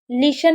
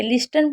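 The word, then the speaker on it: listen: लिशन में भी आप देखें, ली-सन, हम टी को नहीं पढ़ रहे, लिस्टन पढ़ रहे हैं, नहीं भाई लिशन पढ़ रहे हैं।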